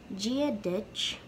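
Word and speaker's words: Dia duit: common way to say hello and irish is gia ditch gia ditch and you can see it written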